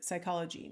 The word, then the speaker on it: psychology: notice like for example the p is silent so there's no p on this list so we've got 1 2 3 4 five six seven eight basic phony making up the word psychology now um in this